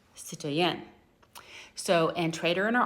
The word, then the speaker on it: citoyen: But in France, the word is pronounced citoyen.